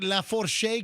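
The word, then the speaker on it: Lafourche: So, am I pronouncing La Fourche correctly?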